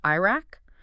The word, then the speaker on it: IRAC: We're going to use either the IRAC, pronounced IRAC, or the CREAC method.